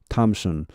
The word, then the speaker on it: Thompson: 여기 발음은 Thompson 아니고 텀이다. Thompson 할 때 이것은 T 발음하고 똑같습니다. 이것은 the 이렇게 안 납니다. the로 안 나고 그냥 T하고 똑같습니다. take 할 때, took 뭐 이렇게 할 때 그 이 T와 똑같은 말 Thompson입니다.